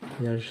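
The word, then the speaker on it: Yaj: Yage, ça s'écrit Y-A-J.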